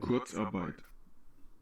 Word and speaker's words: Kurzarbeit: Thanks for learning how to pronounce this with me. Kurzarbeit.